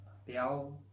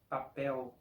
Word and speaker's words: papel: La letra L al final de una sílaba suena exactamente como una U. Por ejemplo, con la palabra papel, en regiones donde la L tiene sonido de L, en portugués, la pronunciación será papel, papel. Y en mi región, el sonido es de papel, papel, sonido de U.